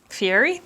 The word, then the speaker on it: Guy Fieri: look like guy fieri fiery is how you say his name all right so we're